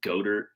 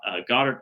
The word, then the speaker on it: Goddard: And then Goddard, or in my one of my fantasy leagues, Joe Dirt, because his name got mispronounced as Godert, and then it sounds like Joe Dirt.